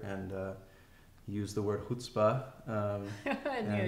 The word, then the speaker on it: chutzpah: uh use the word hutzpah um and he taught us how to pronounce it said don't say chutzpah or something like that um yeah he's he's